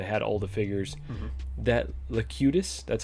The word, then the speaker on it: Locutus: That Locutus, that's how you say it, yeah, the board.